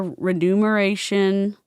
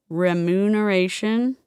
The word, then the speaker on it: remuneration: The above figures include only bonuses, commissions, or other renumeration. Remuneration. Remuneration. Have I been saying this wrong my entire life?